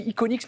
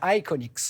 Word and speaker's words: iconics: va continuer à parler je réalise que j'ai dit iconics mais non faut le prononcer à l'anglaise iconics iconics iconics voilà on va continuer à